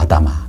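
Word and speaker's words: אֲדָמָה: 아다마. 그러니까 아다마에서 흙에서 나왔기 때문에 아담이라고. 그러니까 발음은 똑같지만 소스는 다른 거죠.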